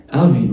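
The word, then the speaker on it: avis: آفي والاس ما بتتنطقش، آخر حرف في أي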